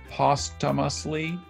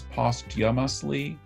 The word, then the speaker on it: posthumously: But there are a lot of variants. There's posthumously, there's posthumously, there's posthumously, and there's posthumously.